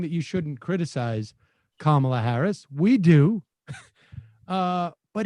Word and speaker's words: Kamala Harris: you're not allowed to criticize kamala harris or kamala harris or whatever no because it's kamala harris whatever okay look i